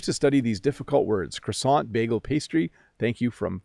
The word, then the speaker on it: croissant: to say croissant twice so it's croissant or croissant in English we do not pronounce that word properly so if I go